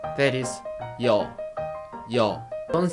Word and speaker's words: ㅛ: Its sound is starting from unclear Y sound and finish with O, yo. You have to be careful. Y sound is very quick, and when you continue to pronounce O, don't say O.